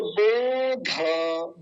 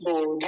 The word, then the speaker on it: बोध: और बोध, बोध नहीं बोलेंगे, यहाँ तो ज्यादा ध्यान से बताना होता है बिटिया, लास्ट में जो अक्षर होता है ये वाला, जहाँ अंत करना होता है। नहीं तो लोग तो इसको बोध ही बोलते हैं, बोध, बोध गलत है। बोध तब कहते जब ध में नीचे हलंत लगा होता है, ऐसे बोध।